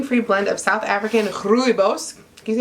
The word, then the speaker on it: rooibos: This naturally caffeine free blend of South African rooibos. Can you say rooibos? Vanilla bean and masala spices is amazing brewed on its own, but also stands up very well to added milk and sweetener. Rooibos.